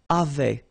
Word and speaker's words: avaient: And then you saw probably that we've got also here A-V-A-I-E-N-T, but then you pronounce it avait.